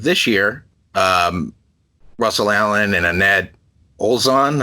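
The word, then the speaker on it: Anette Olzon: Back in March of this year, Russell Allen and Annette Olzon. I think I'm pronouncing the name. Yeah, correct.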